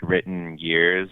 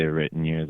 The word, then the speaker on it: The Written Years: I think most people it's kind of hard two words to say like written years like it always sounds like red in ear or like reindeers or